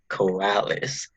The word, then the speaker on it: Coralys: So, I'm with the special Coralys.